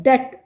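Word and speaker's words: debt: Again डेप्ट B silent है।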